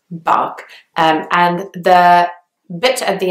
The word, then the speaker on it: Berkshire: county in England and it's got a II after the beat which would suggest that you should say Burke but actually its bulk and the bit at